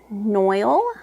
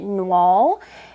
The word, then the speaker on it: noil: this is their linen noil fabric it's 75% viscous 25% linen I always want to pronounce it noal and I think it I think it's noil though I'm not I don't